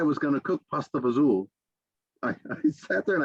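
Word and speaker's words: fagioli: to say this word they would pronounce it pasta faglioli because they would they wouldn't be able to pronounce fazool correctly I take it you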